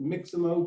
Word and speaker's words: Mixamo: I pronounce it Mixamo, but every time I say that to any other human, they type in something other than that.